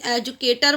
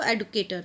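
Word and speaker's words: educator: अच्छा यहाँ पर एक चीज़ और बताती हूँ, एजुकेशन हम बोलते हैं, एजुकेशन एजुकेटर बोलते हैं, इट्स एडुकेटर। करेक्ट प्रोनाउंसिएशन जो है वो एडुकेटर है।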